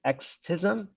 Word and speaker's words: Extism: It's a library slash framework called, let's see, Xtism. So it's spelled EXTISM.